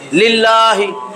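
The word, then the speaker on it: لله: লামে আল্লাহর ডাইনে জের লামে আল্লাহ পাতলা পাতলা কইরা পড়তে হবে লিল্লাহি লিল্লাহি লিল্লাহি বলা যাবে না লিল্লাহি তখন পড়তে হবে এরকম লিল্লাহি কয় না লিল্লাহ বোর্ডিং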